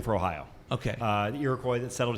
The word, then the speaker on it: Ohio: and took it away, depending on what tribe you were from, is how you'd pronounce it. Oyo, Ohio, Ohio, Eo. And when the English came in, they added the H and the I, and it became Ohio.